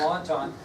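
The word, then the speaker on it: Entente: the other one was the triple and doesn't sound like it at all it's not spelled like it triple entendre pala Alliance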